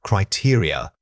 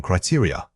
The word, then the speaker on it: criteria: Many speakers struggle with the final unstressed vowels. Remember that this word has an important stress pattern starting on the second syllable. It is not a single stressed unit, it's built around 3 smaller vowel sounds.